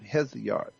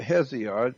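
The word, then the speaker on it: Hesiod: e o g o n y theogony of heot which is spelled h e s i o d the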